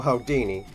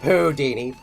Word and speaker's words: Houdini: We may be performers, but you're frankly no Hodini. Uh, first of all, he's pronounced Houdini.